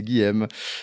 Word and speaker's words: Guilhem: Ils disaient non, toi t'es américain, t'as un peu de droit, mais chez nous non, c'est Guillaume.